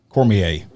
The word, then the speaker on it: Cormier: Is it pronounced Cormier? Cormier. Corporal Cormier. With the San Marcos Police Department. That flows good. That sounds good. It does. Like that. Yeah, it sounds French.